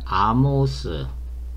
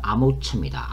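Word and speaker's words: אָמוֹץ: 자, 선지자 이사야는 아모스, 히브리 발음은 아모처입니다.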